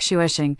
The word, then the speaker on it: Xavier: I named it Xavier, pronounced like shuesing.